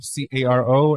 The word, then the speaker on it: Caro: Yeah, it's like Herbie Carr without with the no.